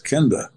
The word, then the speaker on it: Kenda: I said, "It's Kenda."